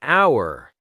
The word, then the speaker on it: hour: an hour because the H is silent so it sounds like our vowel sound.